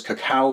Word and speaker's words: cacao: All right, but coffee and cocoa, or cacao as it's technically properly pronounced, will make a really great rub for your ribs if you're looking for that sweet, succulent flavor.